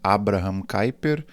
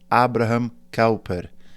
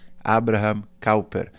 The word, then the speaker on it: Abraham Kuyper: para eles, dentre elas qual era a melhor pronúncia do nome de Kuyper, né? Que a gente costuma falar em português, Abraham Kuyper, ou em inglês, Abraham Kuyper.